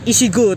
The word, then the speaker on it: ECGO: imutnya warnanya orange Hai tulisannya SC go ezstego ya bacanya isi.go ternyata Hai nah kali ini